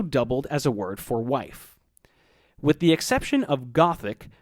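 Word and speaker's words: wīf: By the time wiba and kwoniz had passed into Old English, they were pronounced wif and kwen respectively, and they both meant woman.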